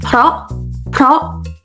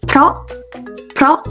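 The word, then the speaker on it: เพราะ: The word because is pronounced เ พ ร า ะ If you're not familiar with my system, you might think of it as P-R-A-W. It's pronounced เ พ ร า ะ This is how you write it in Thai.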